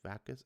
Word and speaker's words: vacuous: just not it's uh it's pronounced vac us that was right yay adjective lacking intelligence